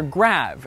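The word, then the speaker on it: grave: the answer is great or rather grab as it would have been pronounced in the original French you see the graph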